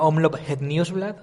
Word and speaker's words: Omloop Het Nieuwsblad: Por favor, Saúl, ilústranos a nivel de idioma cómo se pronuncia esta carrera. Bueno, sería Omloop Het Nieuwsblad.